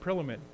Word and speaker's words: Prillaman: and I didn't ask you how to say it, Prillaman. That A is in there, Prillaman.